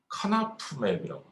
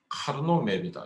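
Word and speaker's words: Karnaugh map: 그래서 뭐 카르노맵에 대해서 뭐 이렇게 표현하는 게 그 발음이 달라요. 카나프맵이라고. 또 어떤 사람은 카르노맵이다 이렇게. 저는 배울 때 카르노맵이라고 배워서 카르노맵이라고 하는 것이 더 익숙합니다.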